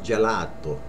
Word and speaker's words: gelato: mulatto marmolada Jam marmolada here's another word I hear mispronounced ice cream ice cream a lot of people say Joe arrow which is right but without the accent it's gelato gelato ice cream Gallardo okay